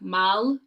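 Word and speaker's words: 말: is saying least compatible with rats um it's pronounced like mal and korean oh and then is the horse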